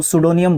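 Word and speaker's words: pseudonym: उसको सूडोनियम बोलते हैं। यह पी के बाद एस जब आता है तो पी जो है आपका क्या हो जाता है? साइलेंट हो जाता है।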